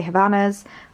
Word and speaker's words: Havaianas: I never know how to pronounce people say Havanas, I say Havaianas, never know how to pronounce that, but my flip-flops.